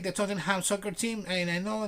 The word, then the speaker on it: Tottenham: No, in London it's called Tottenham. So in this case would be Tottenham Court Road, right? Tottenham. Tottenham. Not Tottenham, never.